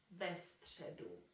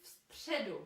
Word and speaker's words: středu: And another thing that you might have noticed, we cannot say v středu because it's just too difficult to pronounce. So for pronunciation reasons, v will be changed into ve.